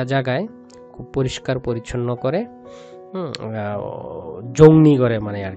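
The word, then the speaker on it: 정리: জংনি হাফসিদা, এটা আসলে অনেক উচ্চারণ করে জংরি, জংরি উচ্চারণ হবে না, হচ্ছে জংনি, জংনি হাফসিদা।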